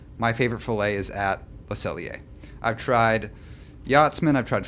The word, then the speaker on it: Le Cellier: And that tradition is at Le Cellier.